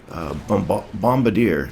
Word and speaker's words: bombardier: and i'm going to pronounce that correctly is pronounced bombardier it's a really strange word um i've i